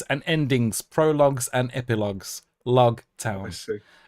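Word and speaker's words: Loguetown: Uh, often mistransated as rogue town because Japanese and L's and ours, but of and it's spelled like rogue, but no, it is log like prologue epilogue.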